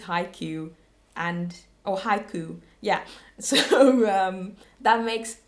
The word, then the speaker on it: Haiku: A couple of episodes ago, I called it hiko, but that's the Dutch pronunciation of that word. But yeah, so someone said, I think it's haiku haiku.